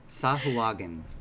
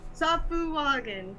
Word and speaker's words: Sahuagin: Sahuagin. That's how I pronounce it. I don't know if. All right, Safuwagan. Except Sahuagin.